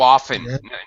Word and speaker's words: often: saying how often how often you go to the movies so we don't really okay correct pronunciation you are right to pronounce the T how often okay why